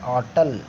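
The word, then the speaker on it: hotel: उसी प्रकार क्या पढ़ते हैं आप लोग, होटल करके बोलते होंगे, वो होटल नहीं होता है ना, उसको क्या पढ़ते हैं, ऑटल, ऑटल इस तरीके से पढ़ा जाता है।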